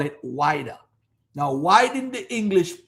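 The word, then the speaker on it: Ouidah: It's Wida.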